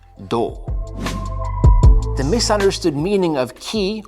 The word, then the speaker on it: 気: The misunderstood meaning of ki, or chi if you want to use the Chinese pronunciation, is magical superpower.